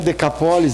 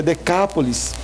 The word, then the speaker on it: Decápolis: Não é Decapólis, é Decápolis. Então a pessoa tem que chamar, né? A sílaba tônica, chama.